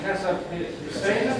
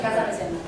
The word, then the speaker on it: Casapesenna: This city here, I pronounce it Casapesenna? Casapesenna.